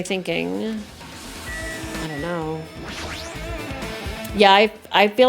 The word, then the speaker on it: AI: do it what's this it's pronounced I I the somnium files it's not AI oh this looks like